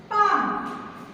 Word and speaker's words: palm: Next word is palm. P-A-L-M. Now tell me which is the silent letter in the palm? Very good. L is the silent letter in the palm because we just said palm.